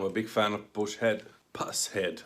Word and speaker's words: Pushead: Pusshead, I think it's correct pronunciation.